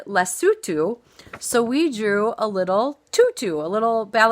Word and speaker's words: Lesotho: here that is spelled it looks like Lesotho but it's said less sue too so we drew a